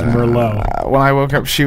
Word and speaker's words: Merlot: Well, I was pretty drunk at that point, so we'd had a lot of Merlot, so I fell asleep. You mispronounced that. And, It's Merlot.